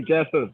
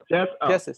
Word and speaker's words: Jesus: i pronounce your name you could say jesus just keep it jesus yep oh jesus okay